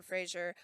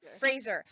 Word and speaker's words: Fraser: pronunciations of stuff and he says his name is Fraser he's been it's been said wrong his entire acting career I had to laugh